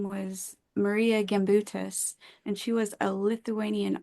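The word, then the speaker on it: Marija Gimbutas: she's passed away now but her name was Maria gutus and she was a Lithuanian archaeologist um that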